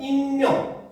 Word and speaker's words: 익명: 근데 앞에 오면은 익명 그렇지 인터넷 세상에서 익명화 얘기하잖아 그렇지 그때 익명할 때는 니은이 탈락해서 익명이 돼요. 알겠죠? 근데 뒤에 오면은 은닉 은닉한 자금을 다 찾았다 이러잖아. 그렇지? 그래서 은닉이라고 해서 둘째 이하의 음절에 올 때는 그대로 발음이 됩니다.